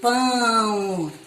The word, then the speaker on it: pão: E aqui eu tenho pão. Ó, o an Eu não digo pau, eu digo pão.